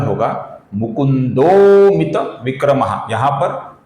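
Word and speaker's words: मुकुन्दोऽमित: तो इसलिए इसका उच्चारण होगा मुकुंदोित विक्रम।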